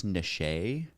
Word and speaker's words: niche: okay to be Niche did you guys know it's technically pronounced Niche and now every time someone says Niche I just want to be like um actually it's niche and then they can be like well actually it's nishe yeah I learned if